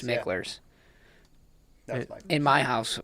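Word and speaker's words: Mickler's: I believe it's pronounced It is, yeah. Micklers.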